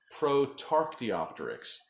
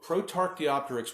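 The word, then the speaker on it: Protarchaeopteryx: tough to pronounce this everybody knows Archaeopteryx but then they go and put P ro t in front of it so be pronounced prote Archaeopteryx so Prout Archaeopteryx we believe it may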